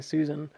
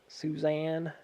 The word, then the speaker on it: Suzanne: school way of seeing Susan suzan I think suzan is with an E isn't it it's like Suz and then a n NE suzan as opposed to Susan so I said your